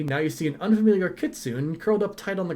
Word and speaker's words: kitsune: i am a kitsune she actually uses the correct pronunciation too uh kitsune is actually the way it's supposed to be pronounced if i recall right i'd just go with kit soon because it's a little bit it flows easier off of my tongue it's probably a bad